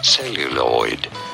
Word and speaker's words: celluloid: Celluloid. Celluloid. Celluloid. Celluloid. You don't want to stress on the first.